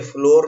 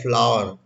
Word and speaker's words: flour: हाँ, Shankar फ्लोर mill, Ambika फ्लोर mill वगैरह वगैरह लिखते हैं, लेकिन ये फ्लोर नहीं है। आटा का प्रोनाउंसिएशन होता है फ्लावर, और इसका स्पेलिंग है FLOUR, जिसका मीनिंग होता है आटा।